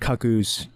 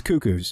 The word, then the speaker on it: Cuckoo: uh couple of cucko and no that's not pronounced cus trust me on this there's there's no cucks in this that's not what it is it's cuckoo and that's actually a type of bird don't